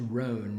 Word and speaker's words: Rohn: jim rome earlier um i guess that's rhone not jim rome like the espn old espn comedy his last name is spelled r-o-h-n jim rohn has been